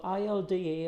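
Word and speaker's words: ILDA: one so it's got il da or ill order depends how you pronounce it connections on the back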